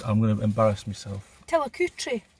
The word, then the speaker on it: Tillicoultry: Can you pronounce the name of the place we are? Because I'm going to embarrass myself. Tillicoutry. Tillicoutry.